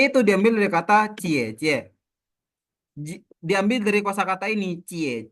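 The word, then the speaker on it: 姐姐: kakak perempuan Jadi intinya J itu teman-teman kalau dalam bahasa Mandarin dibaca seperti C ya oke lanjut kalau aku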